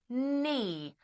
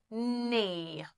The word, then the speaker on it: knee: Silent K. We don't say the K. All right? We just say knee. So it's pronounced like knee.